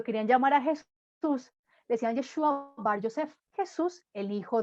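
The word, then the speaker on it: ישוע: Jesús, en hebreo, su nombre se pronuncia Yeshua, ¿sí?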